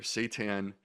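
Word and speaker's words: seitan: So, for the listeners at home who are not familiar, Satan, it's spelled S Ei Tan for the record.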